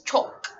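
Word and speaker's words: çok: the H for the this has the same pronunciation as the C and H which is pronounced CH so in Turkish there's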